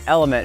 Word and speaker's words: LMNT: to the guys over lmnt pronounced element who sponsored this video